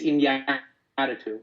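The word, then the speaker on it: Iñárritu: Did I pronounce that right? It's Inarritu.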